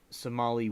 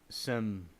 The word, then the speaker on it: Seminole: He commanded the 2nd Artillery Unit in the 2nd Somali War, 1835 to 1842. No, I said it wrong. It's Seminole War, and acted as commander of the U.S.